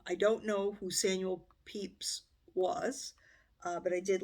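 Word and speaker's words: Pepys: prompt from Elizabeth the complete Diary of Samuel Peeps and I had to look up how to pronounce that which is over 4,000 Pages or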